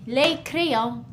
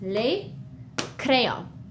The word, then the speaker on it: les crayons: in French we say les crayons. As you can see, the S is, we don't pronounce it. We write it, we see it when we read it, but it's just les crayons.